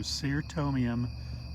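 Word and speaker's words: Cyrtomium: uh japanese holly fern sir tomium that's notice how i pronounce that c it's not a k sound it's an s sound so ser tomium falcana valkatum roquefortianum so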